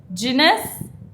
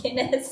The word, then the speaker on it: Guinness: oh my God some of it I cannot pronounce uh your next Carling which is a beer apparently uh McLaren wow PlayStation jness Tik Tok Guinness Guinness I told you right I told you